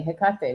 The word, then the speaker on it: Hecate: been cross-culturally connected to Hecate from the I don't know if you'd pronounce it differently, Hecate, wouldn't you say? Yes, that's how I pronounce it, but I pronounce everything wrong.